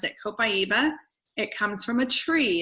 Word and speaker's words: copaiba: move on to copaiba that is how you pronounce it copaiba it comes from a tree it's the resin